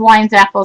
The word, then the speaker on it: Weinzapfel: her last name but my last name is wine Zaff so I'm with your sister um another design